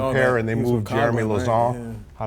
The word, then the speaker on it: Lauzon: But when he came back, they moved him down to the third pair and they moved Jeremy Lauzon. How do I pronounce it right?